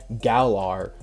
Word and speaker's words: Galar: Let's go to the Galar region. An encounter with Scorbunny. By the way, anyone who freaking goes in the comments and say it's pronounced Galar, no.